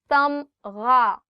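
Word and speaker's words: تمغہ: Tamgha, medal. Tamgha, gha. The sound of gha or the alphabet ghain is always coming from here. So try it from here. Tamgha.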